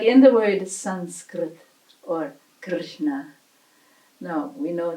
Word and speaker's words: Sanskrit: Say we're pronouncing it as an M here, but depending on position in a word, it will be melting into the next letter, next position, like in the word Sanskrit. As you see, we spell it with a special kind of N, not with an M.